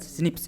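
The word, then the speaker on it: SNP: Pronounce as स्निप्स।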